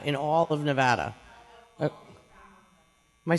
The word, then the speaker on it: Nevada: Right now, in Nevada, in all of Nevada.